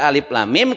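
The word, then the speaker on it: الم: Dibacanya alif lam, lamnya panjang sampai dengan 6, kemudian ada tasjidnya guna 3 ketukan ya. Kemudian mimnya 6 lagi karena panjang-panjang gini.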